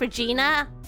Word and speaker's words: Regina: Regina is like, it's pronounced Regina.